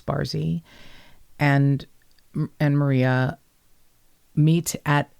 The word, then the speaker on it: Barsi: b-a-r-s-i but pronounced bar it's not bar c it's barzi and and maria meet